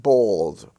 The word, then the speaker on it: bald: the held welds family you have bald b-a-l-d the a there is pronounced as or in the in the